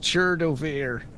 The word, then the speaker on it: Chertobir: His last words before dying are, "It's pronounced Chertobir." The sea is silent.